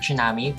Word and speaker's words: tsunami: The word tsunami, pronounced tsunami, is composed of the Japanese words tsu, which means harbor, and nami, which means wave. Okay, these words come from the Japan, so sounds like tsunami.